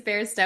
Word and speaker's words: Bairstow: That's like my one Achilles heel, where Well, it's and like it's yeah, it sounds like bear, but isn't written like bear.